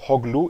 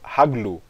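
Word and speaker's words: הָגְלוּ: Notem que eu pronunciei esse verbo como hoglu e não haglu. Por quê? Porque não existe nenhuma forma verbal que começa com um kametz, tá bom?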